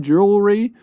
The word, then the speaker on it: jewelry: polishing tarnished jewelry three difficult words number one jewelry really hard to pronounce jewelry as in a necklace or armband